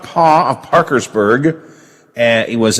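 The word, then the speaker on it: Paugh: quick uh let's see ralph paul p-a-u-g-h help her pronounce right ralph paul of parkersburg and he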